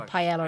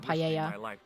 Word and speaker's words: paella: In the UK, we say paella as well, though. So, stand. Our pronunciation isn't good. Thanks for getting the say pella instead of paella.